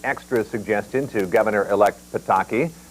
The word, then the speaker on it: Pataki: News at 11:30 tonight so how do you pronounce the governor elect's last name we called his office to find out here goes goes it's Pataki can you say Pataki joh a source of